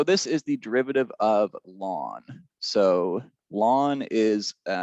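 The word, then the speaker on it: ln: it um so this is the derivative of lawn so lawn is spelt like this so it's a function uh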